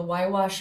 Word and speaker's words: Huayhuash: Um so then moving on, um this takes place in what's called the Wwash Mountain Range, um in the northern Peruvian Andes.